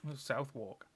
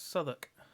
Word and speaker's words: Southwark: I know for the Americans that's pronounced Southwark. But in the UK that's Southwark. And I've got to make